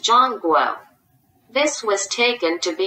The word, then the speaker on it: Zhongguo: The central land is pronounced Zhongguo.